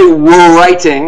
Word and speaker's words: writing: We don't say writing, right? The W is silent.